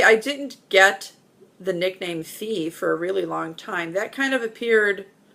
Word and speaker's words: Fe: crazy um I think the most common one is Felicia or Felicia or yeah it it's stupid I know but when it's not supposed to be pronounced that way it just